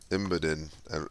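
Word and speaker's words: Imboden: fighting uh desperate fights a Breckenridge and then imidan that's how you say it um he can't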